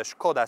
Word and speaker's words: Škoda: in czech republic because the skoda name is a czech name so you saw that that s has a hat over it so it is because